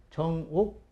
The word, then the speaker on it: 정옥: 그렇다면 이 표시를 뭐라고 읽을 것이냐, 바른 구술이라는 의미에서 정옥이라고 하자. 정옥이라고 읽어야 되는데 아마 이 전달되는 과정에서 전욱으로 잘못된 게 아닐까, 이렇게 이제 보는 견해도 있습니다.